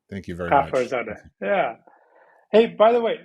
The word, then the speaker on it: Ghafarzade: It's pronounced Ghafarzade. Ghafarzade. Thank you very much. Ghafarzade.